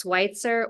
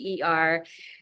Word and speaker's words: Switzer: I'm not sure if it's pronounced Schweitzer or Switzer, but it is Switzer.